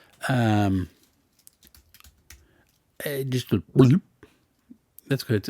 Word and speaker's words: Glib: Just a gloop. That's good. It's gloop. So most people call him glib, but he's trying to pronounce it like, no, it's gloop.